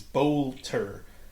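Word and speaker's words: Boelter: I'm not sure how to pronounce his name is Bolter. Vance Bolter.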